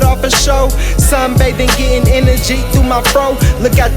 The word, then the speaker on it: NRG: We got my Energy. That's spelled NRG.